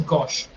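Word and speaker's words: gauche: Left handed का एक French word भी है which is गॉश, which is pronounced as गॉश.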